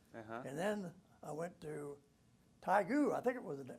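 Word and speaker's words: Taegu: amount of time and then i went to tygoo i think it was right i don't know if i was pronouncing that right yeah taigo yeah yeah yeah well yeah i went to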